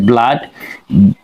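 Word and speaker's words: blood: আমরা যদি একটি ওয়ার্ডকে নিয়ে আলোচনা করি যেমন হচ্ছে ব্লাড। বয়বিল হচ্ছে বয়ল। ডবল ওতে হচ্ছে আকার। ডিতে হচ্ছে। তাহলে হয়ে গেল কি? ব্লাড।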